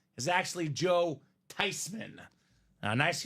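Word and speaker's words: Theismann: family last name she says no it's actually pronounced tysman not thean not Theisman should be tysman so the proper pronunciation of this guy's name is actually Joe tyman now nice H Kyle Smith on Joey T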